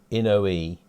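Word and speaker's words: Inoue: But we've had the right way to pronounce the name for ICOM was Inui. Inui. I should think Inui. Inui. Yeah, and Mark says that was his first receiver.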